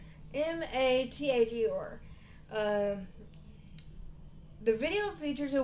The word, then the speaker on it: Mather: It's Mather.